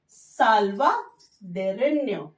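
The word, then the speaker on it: salvadoreño: हुआ है उल्टा साइज, इससे हम साउंड का जो टंग होता है वो चेंज होता है, प्रोनाउंसिएशन न्यो निकलता है, तो साल्वा दोरेन्यो, ओके, साल्वा दोरेन्यो।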